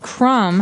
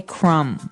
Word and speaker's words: crumb: everyone that the word crumb has a B on the end. C R U M B. But we don't pronounce the B. We just say crumb.